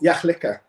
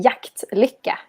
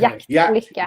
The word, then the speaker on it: Jaktlycka: I would say jaktlycka. Oh, the T. You put the T, a big T in there. Every pronunciation of the T, and then break the liquor down into 2 parts.